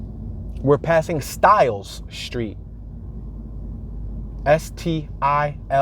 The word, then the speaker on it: Stiles: S-T-I-L-E-S. Not like traditional hairstyle, but you can almost probably pronounce that Stiles. But it's Stiles.